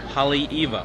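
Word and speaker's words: Haleiwa: town that we're in it's called holly eagle holly eva yeah it's spelled h-a-l-e-i-w-a and holly in hawaii is the home and the iwa is eva it's named after the eva bird ah home of the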